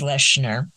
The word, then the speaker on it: Lechner: Nobody's ever pronounced it right since kindergarten, but it's Lechner. Lechner, okay.